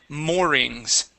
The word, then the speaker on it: moorings: that is the double O and sound like a O. More.